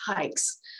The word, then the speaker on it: HAIX: It is actually pronounced hikes, like you're going hiking.